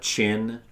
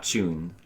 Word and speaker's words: Chin: And you also got Linda Chin. I guess it's Chin and not Chun. I was saying it wrong.